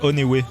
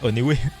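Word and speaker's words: ONEWE: Ça, c'est Oneway, ça se prononce. Ah ouais, c'était pas One Lui. Non, mais en français, tu dirais Oneway.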